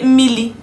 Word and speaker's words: mmiri: Some people say mmili or mmiri, depending on how you want to pronounce it, depending on the dialect.